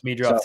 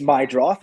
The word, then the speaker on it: Meidroth: Yeah, I thought it was Meadroff too. It's Chase Meidroff.